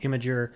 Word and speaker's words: Imgur: Munns, author, geek, and guy who will always pronounce it Imgur, even if it's supposed to be called Imager.